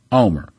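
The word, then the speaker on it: Olmert: again OLM ERT however I was in Israel I heard people pronouncing his name and in Israel you pronounce his name Omer just like ome are yes we're familiar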